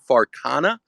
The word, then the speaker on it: Farcana: want to but the name Scott is it farana is that how we pronounce that yeah yeah yeah okay okay cool